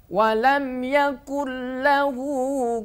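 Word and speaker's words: وَلَمْ يَكُن لَّهُ: madunhu atau walam yakahu tidak boleh baca dengan dengung Wam yakunahu tidak boleh ya tapi tepat bacanya Wam Yakun lahu kufuwan Ahad Wam Yakun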